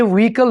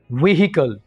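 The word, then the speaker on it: vehicle: ये व्हीकल नहीं है, बल्कि सही जो प्रोनाउंसिएशन है वो है व्हीकल।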